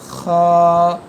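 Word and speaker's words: خ: দিয়ে করার ট্রাই করুন এরপরের হরফটি খ এইযে হাফটি গলার মাঝখান থেকে হয় এ হরফটি গলার এইযে শেষ থেকে খ তারপরের হরফটি দাল আমরা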